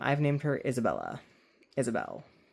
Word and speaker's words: Isabelle: Isabelle. With an E at the end, not Isabella.